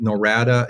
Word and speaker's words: Norada: website if you will is norata real estate norada is spelled n o r a DA norada norada